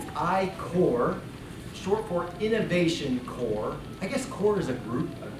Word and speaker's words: Corps: core short pork innovation core I guess quarters a group cadre it's a core silent be silent s that's important xicor we